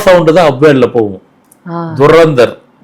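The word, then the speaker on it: Dhurandhar: துரந்தர் movie ஆமா டில ஆரம்பிச்சதுன்னு இல்ல நீங்க அந்த சவுண்ட திருப்பி சொல்லி பாருங்க துரந்தர் து வருது ரா சவுண்ட் தான் அப்வர்ட்ல போகும். துரந்தர் துரந்தர் அதுதான் ஒலி சவுண்டு.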